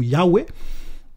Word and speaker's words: Yahwé: Donc on peut prononcer ça comme Yahé ou Yahwé.